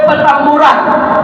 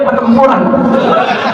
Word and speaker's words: Petamburan: lewat baru ada anad nikahnya Insya Allah Allah ke Petamburan ke mana uran manauran jangan salah baca Iya sebab ada Jenderal yang bacanya pertempuran benbenar baca dia bilang pertempuran kirim tentaraa kirim pasukan